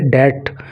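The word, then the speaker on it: debt: देखो, इसके प्रोनाउंसिएशन पे आपको काम करना है, इसको आपको डेप्ट नहीं पढ़ना है, डेप्ट अगर बोलोगे तो वो प्रोनाउंसिएशन सही नहीं माना जाएगा, इसको आपको बोलना है डेट, बी को साइलेंट रखना है।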